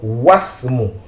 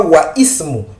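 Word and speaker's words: واسم: il n'est pas prononcé voilà pourquoi nous disons wasm nous ne disons pas waism mais was et le nom de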